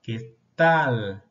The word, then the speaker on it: qué tal: Mira la L final, sube la lengua. ¿Qué tal?